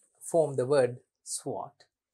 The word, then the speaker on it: SWOT: sense to you it's what how do you pronounce it swot swot swot analysis some say analyzes some say analysis